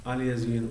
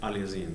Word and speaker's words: aliasing: Now, question number 2 is about aliasing or aliasing, depends how you pronounce it. I say it aliasing, that's how I learned it before, aliasing.